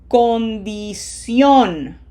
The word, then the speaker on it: condición: We have to smile for the eyes and closed O. condición condición Smile.